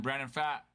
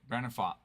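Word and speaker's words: Brandon Pfaadt: Yeah, and then Brandon Fat, or I'm trying to remember how. No, that's not how you pronounce it. Fott. That's right, Brandon Fott.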